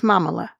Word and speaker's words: Mamala: She's a stellar lawyer, and she's married to another stellar lawyer, Doug Elmhoff, and he's Jewish, and her nickname, rhyming with Kamala, is Mamala.